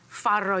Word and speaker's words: farro: first one is farro farro you have to learn how to roll your RS if you're going to eat farro it's got two RS in Italian that's rolled so farro is a